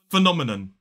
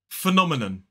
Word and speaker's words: phenomenon: Phenomenon. Phenomenon. Phenomenon. 4 syllables, the stress falls on that second syllable.